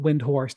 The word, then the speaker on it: Windhorst: raised when wind Hurst but phonetically over the course of years people call it windhorst and to be honest